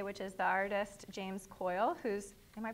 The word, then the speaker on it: Keul: first guest today which is the artist James Coyle whose am I pronouncing your last name right okay good whose